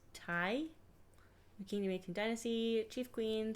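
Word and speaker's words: Tiye: Yeah, I can pronounce the next one. It's Tai. Kingdom 18th Dynasty, Chief Queen, circa 1382 to 1344 BC. The great royal wife of Amenhotep III, Queen Tai was praised for her beauty.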